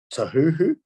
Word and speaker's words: Tahuhu: Sophie Devine, Susie Bates, Tahuhu, is that how you pronounce it? Yep.